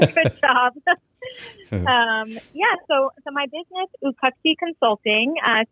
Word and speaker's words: Uqaqti: And I want you to pronounce, it's Uqaqti, right?